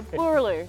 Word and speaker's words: Boorloo: Yeah, Boorloo.